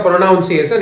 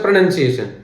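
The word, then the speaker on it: pronunciation: perfect tense और देखो हम लोग क्या बोलते हैं प्रोनाउंस एशन इट्स नॉट अ प्रोनाउंस एशन इट्स अ प्रोनंसिएशन definitely there will be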